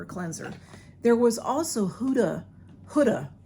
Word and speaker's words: Huda: There was also Huda. Huda. Huda is the right way to say it. I've listened to her say it. She says huda.